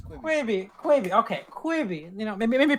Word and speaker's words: Quibi: I think it was saw the ads Quibbit. like 37,000 times and ignored it. Quibi. Quibi. That's it. It's Quibi.